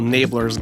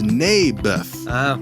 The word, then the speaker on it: Naboth: I like this little Nablers guy. You mean Naboth? Yeah, that's what I said. Mayberf. I think you're saying it wrong. His name was Naboth.